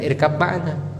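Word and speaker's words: ارْكَب مَّعَنَا: Tapi bacanya bukan irkab ma'ana. Ba-nya diganti dengan mim.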